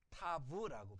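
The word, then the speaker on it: תו: 맨 밑에 타우가 아니라 타브라고 발음하죠. 타브.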